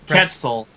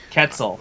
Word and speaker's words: Quetzal: Ketzel. Pretzels. Ketzel.